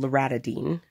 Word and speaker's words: loratadine: So as soon as I got the piercing, I started taking, it's called loratadine. Not spelled like that, but it's called loratadine, spelled like R-A-D-I-N-E.